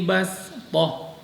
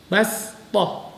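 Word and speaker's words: بسطة: Kalimat bastah tertulis dengan huruf shad tetapi membacanya sama seperti tadi berupa dengan huruf sin. Wadhkuru idh ja'alakum khulafa'a min ba'di qaumi Nuhin wa zadakum fil khalqi bastah. Bastah bukan bas bukan, tapi diganti menjadi huruf sin.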